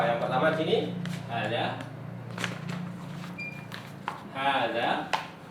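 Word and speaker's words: هذا: pertama di sini ada hadza hadza ini walaupun di sini tidak diberi tanda panjang ya tetapi dibaca panjang hza hadza coba diucapkan hadza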